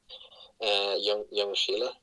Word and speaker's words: Ljungskile: And that team was Ljungskile, which is spelled Ljung. That you say it like young, Ljungskile, and played there for